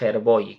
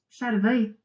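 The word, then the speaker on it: Skjervøy: para conducir a estas Herboy, creo que se dice algo así, más o menos, la pronunciación, Charvei, Charvei.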